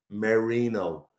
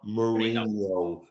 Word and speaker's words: Marino: and I want to I want to make the pronunciation clear Marino not marinho who I would never let